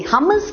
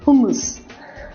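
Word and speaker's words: hummus: double M यू एस जिसको कोई हमस कहता है कोई होमस कहता है लेकिन ये अरबिक वर्ड है तो अगर हम ओरिजिनल प्रोनंसिएशन के करीब जाएं तो हम उसे बोलेंगे हुस हुस हमस हां दुनिया में आप अगर हमस बोलेंगे तो लोग समझ तो जाएंगे ये वो लोग खाते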